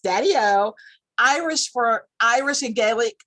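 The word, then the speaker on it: daideó: him as listen to this daddy-o which is pronounced daddy-o irish for irish and gaelic uh for grandfather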